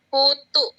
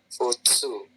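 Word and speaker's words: ふつう: Futsu. Thank you. Fu ini kan su ya, and then yang ini u. Futsu ya.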